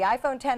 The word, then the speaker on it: iPhone X: can break it now the iPhone X which is actually pronounced 10 because of the Roman numeral will feature facial scanning for unlocking and a big price tag the iPhone 10 is $1,000 and will